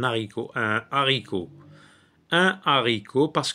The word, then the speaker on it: haricot: un rhinocéros dehors un haricot un haricot donc on fait pas de liaison lorsque c'est un hache aspiré donc on dit un un haricot on dit pas un haricot un haricot un haricot